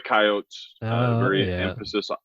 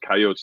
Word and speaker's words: Coyotes: play because we're the Coyotes. Emphasis on Coyotes. It's not Coyote. That's sacrilegious to say that. That's not the correct pronunciation. So it's Coyotes, not Coyote.